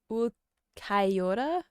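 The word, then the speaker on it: Ulquiorra: syllable would sound like, but it's more like kai, like it's more of a diphthong. Ukaiora.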